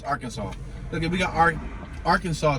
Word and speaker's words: Arkansas: that welcome to our well i say our kansas because that's how it's spelled but it's arkansas at we got our